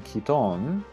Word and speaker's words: Kiton: The last E is silent. It makes the O sound like O.